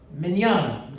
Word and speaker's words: Mignogna: name is and it's pronounced mignon it's much easier than it looks but uh even when